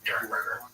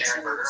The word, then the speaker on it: Derenberger: I thought it was Dernberger, but I did hear, I think in the interview that we're going to have some excerpts from tonight. I heard it was Dernberger. It's spelled like it's Derenberger. It is spelled Derenberger, but I think it's Dernberger.